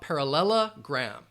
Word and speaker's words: parallelogram: you have that schah parallelogram parallelogram five syllables par parallelogram and quadrilateral